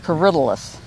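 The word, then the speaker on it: Corydalis: Well, my friend called and said, "No, you had that named wrong. It's Corydalus." He told me, and I said, "That's what I told you, corydalus." Yeah. Everybody has their own pronunciation of it.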